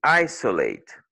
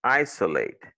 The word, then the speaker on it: isolate: Par exemple, le I, tu dis isolate. OK, isolate. Isolate. Ça, c'est le O qui est prononcé comme un choix ici.